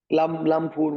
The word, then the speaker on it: Lamphun: three months is it lymph how do you pronounce it again sir Lampoon Warrior so I mean it's one of those